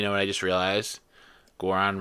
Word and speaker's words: Goron: Goron rhymes with moron.